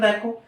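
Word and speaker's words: the: তার পরের বাক্যটা দেখো, এখানকার বাতাস খুবই সতেজ, এখানকার বাতাস খুবই সতেজ এবং পরিবেশ খুব শান্ত। তাহলে কি সাবজেক্ট কি, দ্য এয়ার বাতাস, দা এখানে দি উচ্চারণ হবে, দি এয়ার অফ হেয়ার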